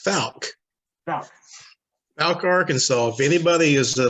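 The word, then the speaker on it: Fouke: me about your story uh how do you pronounce it folk it's falc arkansas if anybody is a love of cryptozoology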